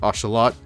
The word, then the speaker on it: axolotl: the diamondback rattlesnake and the Axolotl or otherwise pronounced oshalot I believe that's how you're supposed to pronounce it in like the native tongue but I could be wrong I think it's more like ocelot but anyways we have them